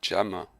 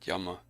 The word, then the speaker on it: Gemma: of brain cells so we've been pronouncing your name wrong the whole time because it actually Gemma and not Yama I was just following